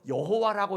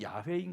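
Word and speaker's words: 야훼: 이름에 대해서 발음을 잊어버렸어요 그래서 여호와라고 읽었는데 나중에 히브리어를 깊이 연구해 보니까 발음이 틀렸어요 야가 맞는 발음이나 그 우리가 지금 여호와라고 하지만은 정확한 발음은 야외인 거예요 하나님의 이름조차 두려워서 아예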